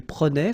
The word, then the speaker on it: prenait: Je prenais, tu prenais, il prenait, final T not pronounced, so the same form, okay?